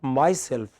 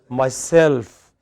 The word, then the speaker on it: myself: you cannot you know it's not myself but myself whenever you have self stress is on self so you take myself